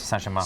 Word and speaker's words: Saint-Germain: And then about 3/4 ounce of the Saint Germain. I believe I'd say it like this. Saint-Germain. Saint-Germain. There you go.